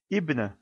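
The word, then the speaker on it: ابن: On prononce bien la voyelle kasra puisque aliful wasl, alif de liaison, est en début de phrase.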